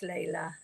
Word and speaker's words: Layla: In my country, pronounced. Maybe in English it's Layla, possibly. Is it L-A? L-A-I-L-A. Probably Layla. Yeah, I would think it's Layla.